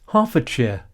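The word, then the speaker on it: Hertfordshire: Like most Harfordshire towns in this period, yes, Harfordshire, nobody pronounced a T in those days.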